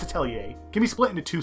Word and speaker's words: Atelier: Anyway, Atelier Sophie, and yes, that's how you pronounce it, Atelier, it's not Atelier, I don't care that's how they pronounce it in the game, it's Atelier, can be split into two sections.